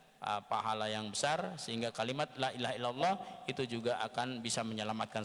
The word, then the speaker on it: Lailahaillallah: keutamaan-keutamaan di dalam kalimat Lailahaillallah jadi kita cara baca pertama Laila harus menampak kan pila setelah nyala dan harus memanjangkan lah jangan sampai dipendekkan jangan sampai dijadikan 1.lay tidak bohong tidak boleh